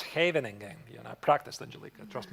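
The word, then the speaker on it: Scheveningen: No, no, no, it's not Shving. It's Havening.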